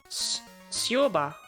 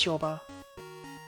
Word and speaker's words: Shoba: Sioba. Sioba. Oh my god, of course it's Shoba. That's just how J's are pronounced in German.